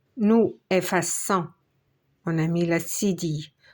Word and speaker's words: effaçons: efface es il ou elle efface e nous effaçons on a mis la SIDI pour prononcer le son 100 F à 100 vous